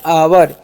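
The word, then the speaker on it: our: अब next word जो है हमारा ओ यू आर, तो ओ यू का उच्चारण क्या हो गया? आर से हो गया र, तो हो गया आवर।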